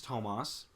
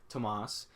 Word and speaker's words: Tomas: the wrong name uh my name is thomas or well like more better pronounced as ton tomas um people call me thomas thomas tomas any anything that is is different than tomas is said and so